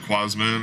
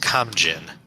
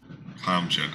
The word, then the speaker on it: Kamjin: Quasman or whatever the hell his name is. It's pronounced Kamjin. Kamjin.